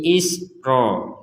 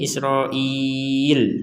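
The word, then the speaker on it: إسرائيل: Kalau mau berhenti sampai di sini Israil. Nah, kalau ini boleh ya bani ya. Kenapa? Karena ini ada di akhir kata harakat benderanya. Kalau di yang Israil ini ada di tengah-tengah kata. Jadi ini satu kesatuan Israil enggak bisa dibaca isro saja. Kemudian il enggak bisa Isroil seperti itu.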